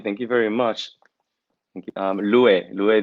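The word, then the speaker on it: Lu'e: you very much um louis is my name that's the correct way to say it thank you for for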